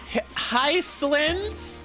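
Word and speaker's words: Hysilens: Hyslins?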